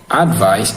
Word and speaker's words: advice: Now, advice is stressed in the first syllable. Advice is stressed in the first syllable. What does that mean? It means it must be pronounced as advice. There are two syllables in advice, ad and vice. So the stress is on the first syllable, which is advice.